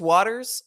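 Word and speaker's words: Wouters: i heard booters so wuters is the uh is the is what people think it's pronounced it's actually apparently pronounced waters i learned that myself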